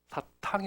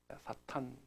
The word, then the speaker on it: 사탄: 사탕이 아니고 사탄. 네. 발음을 잘. 사탄.